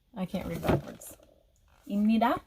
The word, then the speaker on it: 입니다: 입니다 is pronounced like with the square character. 입니다, 입니다.